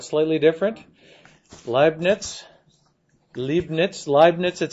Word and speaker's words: Leibniz: I'm not a fluent German speaker or anything like that, but I understand you pronounce this Leibniz, even though it's maybe spelled slightly different. Leibniz.